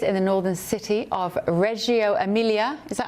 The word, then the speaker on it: Reggio Emilia: She's set to spend 2 days in the northern city of Reggio Emilia. Is that how I pronounce it, Greg?